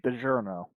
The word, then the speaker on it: DiGiorno: It's okay to get DiGiorno.